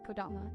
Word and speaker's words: Kodama: I'm pronouncing Kodama correctly.